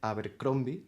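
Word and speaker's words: Abercrombie: Eh, pues por eso por esos años tendríamos las novelas de George RR Martin sobre el 2000 y también de Joe Abercromby. Se pronuncia así, Carlos.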